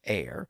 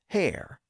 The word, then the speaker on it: heir: a pun is because the word air could be pronounced with a silent h like today but also with a pronounced H at the beginning so some people said air and some people said hair sort of like herb